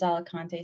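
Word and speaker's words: Alicante: I think that I'm not gonna I'm probably not gonna pronounce this right. Is it Alakante Spain? Yes. Yes. That that is right. It is Alakante, Spain.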